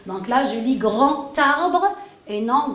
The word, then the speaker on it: grand arbre: Quand le D, je le mets en liaison, je le prononce comme un T et non comme un D. Donc là, je lis grand arbre et non grand d'arbre.